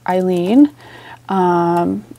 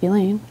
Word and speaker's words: Eileen: So I actually grabbed one for Eileen, which I've been saying her name wrong this whole time. I thought it was Elaine for years, but it is what it is.